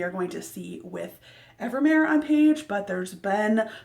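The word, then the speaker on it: Evemer: I think his name is pronounced Evermare, is how I've been saying it.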